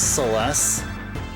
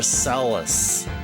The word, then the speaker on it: Celes: She's known as Celeste. I called her Celis.